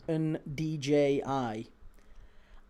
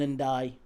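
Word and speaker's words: Ndiaye: Vinny says, Key, it's pronounced Ndji. I disagree. It's Iliman and Die. I disagree.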